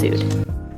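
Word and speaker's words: Soothr: Up next is one of the hottest restaurants in New York right now, known as Soother, but properly pronounced Sood.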